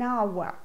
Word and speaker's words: hour: the letter is important a house but an hour this is because the age at the beginning of hour is silent article and uncle but a university this